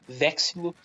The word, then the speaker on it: Vexilo: Se escreve Vexilo com X, se lê Vexilo, né?